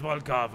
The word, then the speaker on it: Volkov: Yo no sabía pronunciar el ruso. Es Volkov, ¿eh?